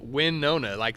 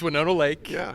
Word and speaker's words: Winona Lake: uh Winona Lake right you said it right people it's called win Nona like there's a kick of like it's not yeah so it's Winona Lake what makes that school